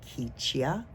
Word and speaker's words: Kichia: I sort of had a hazy recollection of our planet called Kichia, K-I-C-I-A, pronounced Kichia, which I understood to be in what you would consider to be the Pleiadian star systems, around one of those stars.